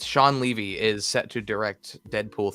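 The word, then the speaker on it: Shawn Levy: deadpool 3 news but sean levy is how you pronounce his name i always thought it was sean levy it's sean levy is set to direct deadpool 3.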